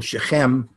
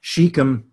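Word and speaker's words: Shechem: Land they came to the biblical ship em and she come in an American pronunciation and near the modern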